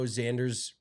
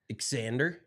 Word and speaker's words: Xander: an English Professor but how is an X pronounced as a z or is his name Xander well Al Alexander Alexander Xander it is you got it's not just Xander because then that's z n d r right you know